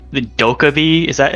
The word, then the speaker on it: Dokkaebi: Like the Dokkaebi? Is that how you pronounce her name? Yeah, Dokkaebi.